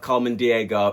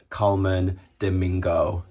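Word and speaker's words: Colman Domingo: Up next, we have Coleman Diego in Valentino. Guys, I'm just editing this video and I know I keep saying his name wrong. It's Coleman Domingo.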